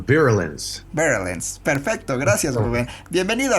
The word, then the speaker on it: Virulence: Se pronuncia Virulence.